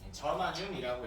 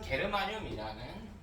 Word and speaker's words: 저마늄: 자 예시게 14조의 경우 주소나 우리 G 저마늄이라고 있고요. 우리 일상에서는 게르마늄이라는 발음으로 많이 읽히고 있어.